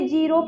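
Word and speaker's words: ज़ीरो: जैसे में मान लो आप लिखोगे जीरो फास्ट फेल।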